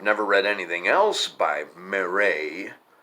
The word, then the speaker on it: Marais: read anything else by Marais it's not spelled Marais it's one of them French names kind of like Calais where you don't pronounce the S mr.mayor a Eugene is